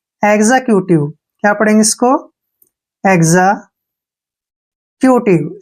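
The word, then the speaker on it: executive: ई vowel आया है जब भी एक्स के बाद वावल आता है तो एक्स का उच्चारण गज के रूप में किया जाता है नेक्स्ट वर्ड है ई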